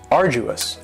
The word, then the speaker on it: arduous: next is arduous and arduous has three syllables and the stresses on the first syllable arduous now you don't hear that D sound that much it's not very strong it almost sounds a little like a.j arduous arduous and something